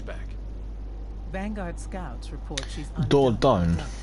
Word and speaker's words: Dordogne: Vanguard scouts report she's Dordogne, or Dordogne, if you are to pronounce it in the French way.